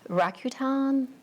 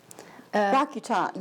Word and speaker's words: Rakuten: never sure how to say the overarching name, Rakuten? Rakuten, yeah.